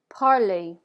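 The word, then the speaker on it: parlez: going to be parle parley you're probably thinking that sounds just like the word before it does it's the exact same pronunciation that's what makes French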